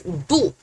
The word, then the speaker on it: 不: This character, originally it pronounces as 不 the fourth tone, 不 But it is a special, so there is a rule for it.